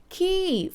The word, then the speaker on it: ขี้: say pupu but the main word of this episode is the word ki ki falling tone which means alright